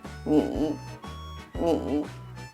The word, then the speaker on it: 你: To make it easier for you to understand, you can just go to the very lowest voice.